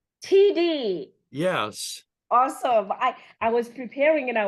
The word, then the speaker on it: Tiede: T, how do you pronounce it, by the way? I know you wrote it out for me. TD. TD.